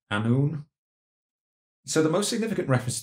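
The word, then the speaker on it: Annwn: get this pronunciation correct is called anu a double n w n but the w is like an o u sound a noon so the most significant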